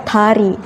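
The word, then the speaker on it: 다리: Hangul itu bukan da tapi ta. Ta. Ta. Jadi kalau bahasa Indonesia dari, bahasa Korea tari.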